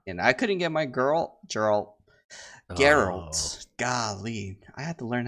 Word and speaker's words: Geralt: And I couldn't get my Geralt. Golly. I had to learn how to pronounce that right.